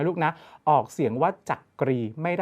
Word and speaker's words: จักรี: นะ ออก เสียง ว่า จักรี ไม่ ได้ ออก เสียง ว่า จักรี ตาม ที่ เขียน เอา ไว้ นะ ครับ และ ข้อ